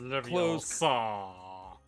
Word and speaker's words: Leviosa: It's pronounced Leviosa. Don't hit with that Livio shit.